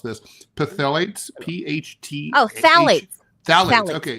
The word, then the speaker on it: phthalates: I don't know how to pronounce this. Phthalates, P-H-T.